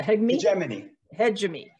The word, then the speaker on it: hegemony: Monetary, you know, how do you pronounce it? Hegemony.